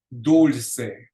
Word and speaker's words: dulce: That ends in a vowel, so the accent goes on the second to the last syllable, which in this case is the middle syllable. Dulce, dulce.